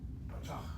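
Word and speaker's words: פתח: And the accent should be on the last syllable. Patach.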